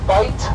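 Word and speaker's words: bight: In front of us is our Key West bite. Bite is spelled B I G H T.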